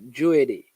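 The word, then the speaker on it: Jeudy: scoring a whole lot his name is stevenson i think is it's it's pronounced joey j e u d y i'm very good striker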